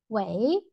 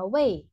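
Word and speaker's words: 喂: Vậy, Cái từ way này, thực tế từ gốc nó đọc là way thanh bốn, nhưng mà đại đa số người Trung Quốc thường hay dùng thành đọc thành way, way là alo ấy,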